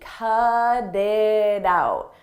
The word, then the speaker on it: cut it out: In American English, when a T comes between vowels, we change that to a d, a very soft D. Cut it out, cut it out. And I pronounce all three as one.